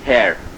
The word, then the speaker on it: Herr: So it is hair.